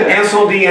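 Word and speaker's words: Incendies: So that's why Sean's pronouncing it correctly. Yes, that is Incendie.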